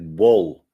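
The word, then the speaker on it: ball: как ночи бал пишет а с а пишут А да но произносит как бол супер бол волейбол баскетбол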